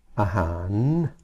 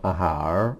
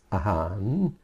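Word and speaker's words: อาหาร: end of a syllable this becomes an n Sound you'll see this in words like aan which is spelled with an r at the end it's not AAR it's aan which means food this is a lady boy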